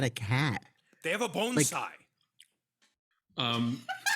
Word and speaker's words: bonsai: bonai um like a bonai but it's a mushroom you know like bonai trees yes no oh Bonsai yeah bonai oh you went to Japan I'm sorry I forgot sorry that's the actual pronunciation are we leaving this